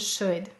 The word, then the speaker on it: should: What happens in could, would, and should? Notice the This is another spelling of the broad sound, could, would, should. And notice it has a silent L because it's saying that is the broad sound, much like walk, talk, and chalk.